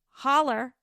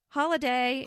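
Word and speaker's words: Holladay: So, this person in Holiday, and it's spelled H O L L A, Holler, Holiday, Holla, Holiday, Holiday in Utah, was woken up, but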